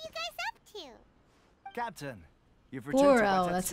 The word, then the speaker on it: Goro: Goro, that's how you say it.